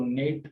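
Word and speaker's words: gnat: इस तरह से ये फीन है और इसको नेश पढ़ा जाता है, इसको नेट और इसको नाव पढ़ा जाएगा, यानी सब में जो जी है वो साकिन रहती है।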